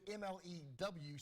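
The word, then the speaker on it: MLEM: We pronounce it MLEW, Space Agency. I'm sure like, Miloom, or I don't know.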